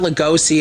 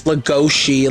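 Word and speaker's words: Lugosi: interesting thing about Bell Go's name it's not losoi it's legosi like go it has a little more of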